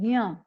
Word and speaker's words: ज्ञ: उसी प्रकार से जब ज्ञ का हम उच्चारण करते हैं तो ज्ञ नहीं बोलते हैं, ग और य नहीं होता है, वो ज और य होता है। तो हम इसको उच्चारित इस प्रकार से करते हैं ज्ञ।